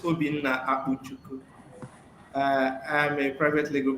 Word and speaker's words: Obinna Akpuchukwu: we go over to Obina Abuchu. Did I pronounce it properly? You tried. You tried almost. Okay. Yes. Well, uh, thank you very much, Zini. My name is Obin Auku.